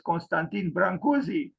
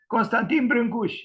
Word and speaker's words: Constantin Brâncuși: Romanian sculptor Constantine brush this is the Romanian pronunciation he is well known outside of the country as Constantine branzi people pronounce his name